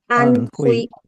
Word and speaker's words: Anhui: Is that how you pronounce Prema Sarovar? Anhui? Anhui Guru Maharaj. Anhui.